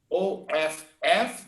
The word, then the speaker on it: of: But if I have only OF, the pronunciation is of. That's why people confuse. He should have, should have, of. So I should have done it. No, they confuse because of the V sound, okay?